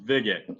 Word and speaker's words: VIGIt: It's pronounced VIGIt. So a vigorish or a VIG is a sports betting term, and it's the bookmaker's cut.